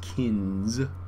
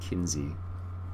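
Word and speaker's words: Kinze: this one down here someone said it's pronounced kins not Kinsey but it definitely looks like Kinsey anyways oh this is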